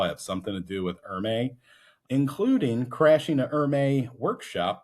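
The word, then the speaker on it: Hermès: So, Axel Dumas is the CEO of Hermes, pronounced Hermes, not Hermy like you used to call me uh back in our problematic middle school years.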